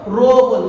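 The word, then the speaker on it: rho: क्या बोलते हैं इसको रो बोलते हैं loops like P बट आईटी इस एन बी सोमवार विच रोमांस आगे व्हाट प्रोनाउंसड डेट व्हाट रो और ये रो हमारे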